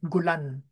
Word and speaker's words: Golan: nung kami nag-travel diyan ang kanyang pronunciation sa golan ay gulan no so mero kung emphasis doun sa dulo gulan so tayo pagka binibigkas natin ay golan malambot na pronunciation Pero